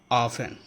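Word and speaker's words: often: उसके बाद है ऑफन, ओ एफ टी ई एन, ऑफन।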